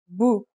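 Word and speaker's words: بُ: And finally, here's a dhma. It changes the pronunciation to bu.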